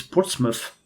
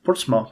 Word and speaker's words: Portsmouth: in 1495 they actually it's Portsmouth I keep pronouncing that portma but it's Portsmouth in 1495 they obvious